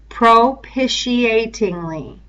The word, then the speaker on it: propitiatingly: is a tough one propitiatingly propitiatingly propitiatingly so say this word with me we're just going to kind of say it a syllable at a time on three Pro Pisha inly propitiatingly that's correct uh say